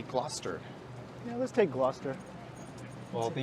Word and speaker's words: Gloucester: Rochester not Gloucester no there's a debate over how to pronounce the street name but I found a random online reference that said how to pronounce difficult Toronto street names and this was very clearly Gloucester just take Gloucester well